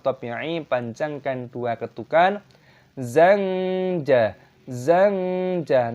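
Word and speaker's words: زنجبيلا: Zanja, nun sukun diikuti jim dibaca ikhfa.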